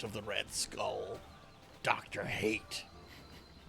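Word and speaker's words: Hait: Hyatt and u my advisor very politely corrected me and said, "Actually, the name is pronounced hate."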